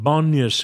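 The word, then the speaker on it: Banias: is known as banyas it is named after the Greek god of wine pan but the Arabs couldn't pronounce the P so they called it banyas and sit upon us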